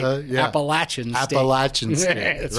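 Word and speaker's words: Appalachian: college at what school appalachin state that's right appalachin St appalachin state right yeah you learn how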